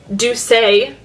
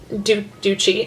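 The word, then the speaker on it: Doucce: to be using the it's pronounced I found out do say not do cheat this is the do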